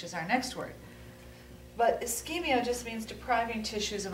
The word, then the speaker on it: ischemia: And this is not just to phlebotomy, it applies across the board because ischemia can occur in many different scenarios. We pronounce this ischemia.